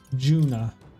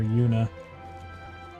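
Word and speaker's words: Junah: not you you know Juna I keep accidentally calling her Yuna my brain is pronouncing the J as a as a y essentially I bet there's treasure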